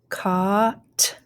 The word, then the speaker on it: caught: ah gust august ah caught caught so a-u-g-h here caught we have a-u-g-h again ah so it goes so we do not hear the g or the h they're silent here it